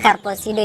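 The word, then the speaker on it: carposide: Nah, kemampuan daun pepaya untuk obat cacing tersebut disebabkan karena adanya kandungan senyawa karposide. baca ee membacanya karposido ya, karposite yang dapat berperan dalam membunuh cacing-cacing yang ada di dalam perut, yang ada di dalam pencernaan.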